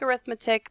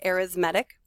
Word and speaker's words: arithmetic: It looks like arithmetic, but technically it's pronounced arithmetic.